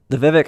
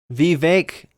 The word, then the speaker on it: Vivek: Vivek. Cake, like he said. But I don't know if he's memeing. I don't. Fuck it. I could have sworn though I heard it's pronounced Vivek forever, and then all of a sudden, him saying it.